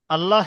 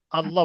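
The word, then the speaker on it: الله: ডানদিকে ডানদিকে পেশ এসছে পেশ এলে মুখ গোল করে পুর করে ল উচ্চারণ হবে শুধু এই বলবেন গোল পড়তে উচান এটা আমরা জানি সকলে তাহলে শুধু এই বলবেন আল্লাহ শব্দের ডানদিকে পেশ এসছে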